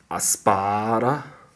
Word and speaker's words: アスパラ: Aspara, it does supposed to say asupara, but it's pronounced aspara, which means asparagus.